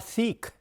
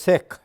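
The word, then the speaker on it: Sikh: fellow SE called seik it's not seik it is sick so you know they are like you know it rhymes with sick but then seik rhymes with seek so there's nothing wrong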